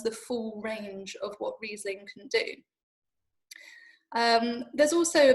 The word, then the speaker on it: Riesling: think we all probably started calling it uh riseling until we were corrected and told it was in fact riesling um but it doesn't